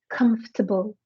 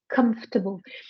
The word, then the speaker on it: comfortable: the thing is there there is no table we need to pronounce this word as comfortable comfortable perhaps she could repeat